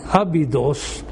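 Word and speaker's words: Abydos: Uh so in a city of AB which in Greek uh ways is is pronounced Abd Abidos in ancient Egypt around 4,000 years ago in the reign of Serotin III.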